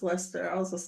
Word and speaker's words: Leicester: remember I couldn't I didn't know how to pronounce Lester I was just like what is that spell